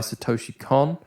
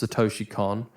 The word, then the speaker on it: Satoshi Kon: I'm pretty sure it's Satoshi Kon. But I've also heard Satoshi Kon and a bunch of other different ways of pronouncing it. But I'm going to call him Satoshi Kon because that's the way I think it's pronounced.